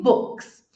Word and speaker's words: books: E book. Não vibrou, por isso que eu pronuncio books.